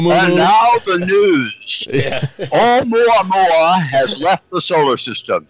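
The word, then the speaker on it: ʻOumuamua: be a spacecraft, but in Hawaii, they call it Oumuamua. That's right. Not Oumuamua. Yeah, or Moo. And now the news. Yeah. Oumuamua has left the solar system.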